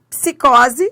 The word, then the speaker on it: psicose: Depois psicose. Ó, os dois sons são pronunciados.